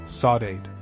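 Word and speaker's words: saudade: It was the melancholy, the ache, that Portuguese word she made me learn to pronounce. Sawate.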